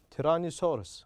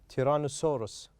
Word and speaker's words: tyrannosaurus: as you can see this is the stressed part so we are going to pronounce it loud and longer than other syllables tyrannosaurus tyrannosaurus okay tyrannosaurus rex the